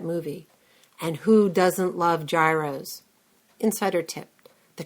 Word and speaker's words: gyros: everybody knows that movie and who doesn't love Gyros Insider tip the correct pronunciation is yido now go thrill your Greek waiter Greeks are